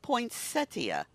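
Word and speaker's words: poinsettia: like so go run and at your pink poinsettas now we're we're both saying POA and it's spelled potia okay go get your pink poin settia there you go um and yeah National gingerbread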